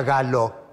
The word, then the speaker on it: Gallo: del himno del director Mario gallo se pronuncia galo fue firmada en 1909